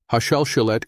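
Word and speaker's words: השלשלת: Hashalshelet is pronounced ha-shal-shel-et. It means the chain.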